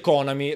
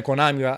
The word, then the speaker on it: Konami: Però si dice Konami, la pronuncia internazionale, ma va bene Konami, sti cazzi proprio, sti